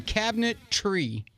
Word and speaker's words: Cabinetree: what got my attention cabinet tree okay but it's spelled TR EE to me that's brilliant now